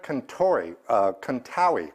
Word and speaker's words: Contawi: This comes to me from Fred Contawi, rhymes with Maui.